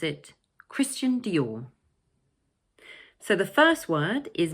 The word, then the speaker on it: Christian Dior: The second word is also made up of two syllables but the stress is placed on the second one 'Dior'. So it's 'Christian Dior'.